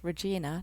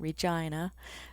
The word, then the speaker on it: Regina: he said her name correctly pronouncing it regina not regina made her wish just